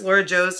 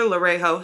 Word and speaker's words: Laura Jo: I mispronounced Laura Jo's name in the giveaway. She won the giveaway. I called her Lorejo. Sorry. It's Laura Jo.